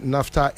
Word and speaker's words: naphtha: I just had a text from one of the big wigs from Tema energy phone be oil phone be yeah or said NAFTA is spelled NAPHTHA.